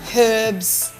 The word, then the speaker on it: herbs: on my different herbs oh you actually pronounce the eight yeah because he's got a h in front right right everyone's like it's not herbs it's herbs I'm like no not where I come from I love your